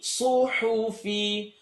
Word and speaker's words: صحف: Do you notice sad is heavy, ha is light? Even though both of them have an u sound, both of them have an u. One is pronounced su, and the other one's pronounced hu.